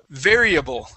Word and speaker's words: variable: This word right here is variable. Variable. Variable. Variable. Okay, good. Remember, on that R, okay, drop your tongue so you don't say variable.